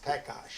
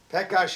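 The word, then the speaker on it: Pekař: The original way is it came from Czechoslovakia, and the real pronunciation is Pekash. Absolutely right. Pekash is the real pronunciation, and when Daddy would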